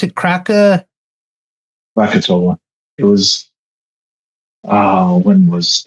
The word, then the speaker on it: Krakatoa: Um I don't know thousands of was crack how do you pronounce it? Kraka Krakatoa.